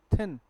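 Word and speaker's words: thin: तो क्या लिखा है ये दिन नहीं है, क्या, इट्स थिन, पतला दुबला, थोड़ा पतला, हाँ भाई।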